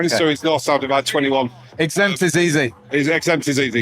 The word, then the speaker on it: XZMPT: Okay, so Exempt. Just type Exempt into Google. Yep. I'm very fortunate in that I've picked a random name, but it's spelled XZMPT. So no vowels in it.